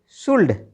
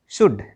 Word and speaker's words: should: SHOULD शुल्ड नहीं शुड।